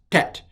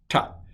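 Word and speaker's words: ט: say for you but it's transliterated as a t with a dot under it and it is ta aleph bet this is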